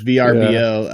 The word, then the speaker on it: VRBO: uh I don't know do you pronounce it verbo is it VRBO I hate verbo I'm a VRBO that makes sense that's how I say it is VRBO um so I've used